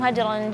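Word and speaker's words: هجرًا: Jadi tanwin ketemu dengan huruf jim harusnya bacanya hajron jangan hajron di lebih saf lagi hajron jamila. Jadi lidah kita itu seperti ngegantung enggak boleh nyentuh langit lagi. Hajran. Kalau hajron berarti seperti izhar.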